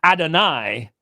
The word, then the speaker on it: Adonai: standard Val pointing for Adonai under Yahweh but think about it Yahweh is a two syllable word Adonai is a three syllable word so it doesn't actually